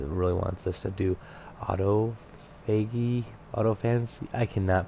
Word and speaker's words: autophagy: wants us to do autophagy, I cannot pronounce this. Autophagy, something. Because PH is an F sound.